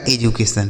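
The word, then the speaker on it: education: इसे पढ़ा जाएगा एजुकेशन।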